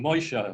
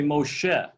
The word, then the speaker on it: Moshe: you know somebody's saying shabbos all day long moisha moisha shabbos love it when they go to